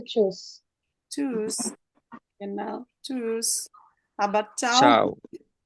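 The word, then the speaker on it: Tschüss: এটার উচ্চারণ হচ্ছে চুস।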